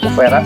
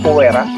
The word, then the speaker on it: Kuwera: Jadi arah utara adalah Dewa Kuwera atau Kuvera, itu dibacanya Kuwera.